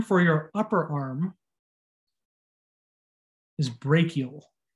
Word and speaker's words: brachial: your upper arm is brachial whenever you see a ch in this class it's a hard k sound brachial we're looking from an